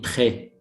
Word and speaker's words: très: In English, the grave accents, صوت نطقي, like in très, très. We pronounce as in bet.